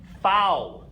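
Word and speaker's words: Vau: okay so o the letter V fou the letter V is fou it will make an F sound when we see it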